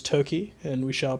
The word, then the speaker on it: Toki: Sor Toki uh which I learned just now Toki is how you pronounce this not toai I which for a